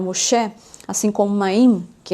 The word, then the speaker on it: Moshe: do nome de Moisés, que no hebraico a gente pronuncia Moshe, né? E também o nome do Messias, que a gente pronuncia no hebraico Mashiach. Então Moisés, que é o Moshe, assim como Maim, que